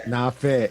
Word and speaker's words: Nafet: Nafet. Nafet. Yeah, kind of like Prophet, but no.